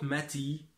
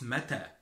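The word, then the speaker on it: متى: So it's not mati. Mati, it's mata.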